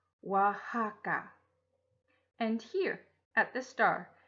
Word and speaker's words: Oaxaca: is the name of the state it is pronounced Oaxaca and here at the star is Oaxaca City